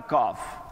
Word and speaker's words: calf: No, so it means that L is silent.